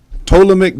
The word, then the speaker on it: Ptolemaic: Y'all might start tripping because it's spelled with a P. No, yeah, but you had me look. I'm like, I always see what you're talking about. Ptolemaic Dynasty.